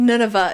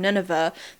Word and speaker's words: Nineveh: Nineveh. Nineveh. I think Nineveh is how they pronounce it.